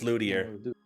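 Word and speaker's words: luthier: me see the pronunciation no it is Luder Luder yep Luder okay I was right yes the maker of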